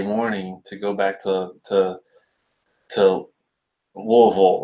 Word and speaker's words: Louisville: It's not Louisville. It's not Louisville. It's Louisville. Richie says, I've seen Quake's show where he actually passed out.